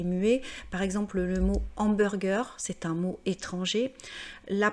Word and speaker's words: hamburger: Donc hamburger contient un H aspiré, donc on doit dire le hamburger.